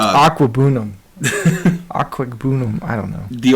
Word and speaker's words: Okwuegbunam: Albert Okwuegbunam. Okay. OKWUEGBUNAM. We'll just call him Albert O. Aquabunam. We'll just call him Albert O. No, it's Aquabunam.